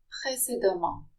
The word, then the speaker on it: précédemment: If the EM occur together in a word, they're pronounced am. Précédemment.